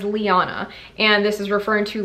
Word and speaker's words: Lyanna: I've heard different variations of this name, but I fell in love with the way they pronounced it in Game of Thrones, and that is Liana.